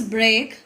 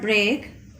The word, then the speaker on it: break: Only the first letter is different and the pronunciation is also different. Okay, this is break and this is freak. Okay, this is called break and this is called freak.